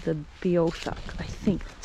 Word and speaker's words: Beothuk: The original First Nations people of Newfoundland They are called I think it's pronounced Beothuk or Beothuk. It's Beothuk, and they were here long before white people got here.